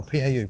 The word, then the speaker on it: Pau: We're in Pau. Pau or Pal, P A U, but it's pronounced Pau.